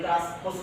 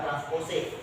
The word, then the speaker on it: transpose: Kenapa bisa berubah jadi transpose seperti ini? Baca transpose bukan transposik. Kita orang nak orang Indonesia cuman kalau transpose C ini kan tulisan Inggris. Jadi kita bacanya adalah transpos.